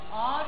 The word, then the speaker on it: Ağrı: Ağrı demiyorsunuz ki. Ağrı diyorsunuz. Ağrı. A uzuyor. Ağrı.